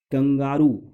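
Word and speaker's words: kangaroo: कंगारू जिसको हम लोग बचपन से बोलते हैं ना, तो ये कैंगरू प्रोनाउंसिएशन इसका होगा, कंगारू हिंदी।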